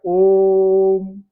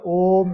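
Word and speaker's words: ओ३म्: इसका उच्चारण किया जाएगा ओम, है ना।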